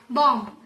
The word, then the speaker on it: bomb: Now, talk about B after M, like bomb, climb. Then, in these words, we don't pronounce B. It's climb and bomb.